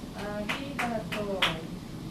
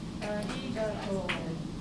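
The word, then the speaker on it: ありがとう: So it should sound like this. Arigato. Arigato. To is twice as long.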